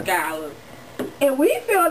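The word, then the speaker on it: Scolle: S-C-O-L-L-E. Shula. No, damn. I'm gonna give you a second chance. I'm gonna let you see his Twitter, because I think he might have maybe thought about misunderstood it that. I feel like he just understood it. S-C-O-L-L. There it is. This is what you're trying to pronounce. Young Scholar.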